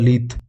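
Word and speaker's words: lithe: लीथ, लीथ ई silent है भाई इसमें, लीथ ही बोलेंगे इसको, लीथ।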